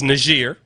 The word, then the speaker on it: Niger: I want to make sure I pronounce it correctly because some of you motherfuckers will just call it nigger. It's Niger.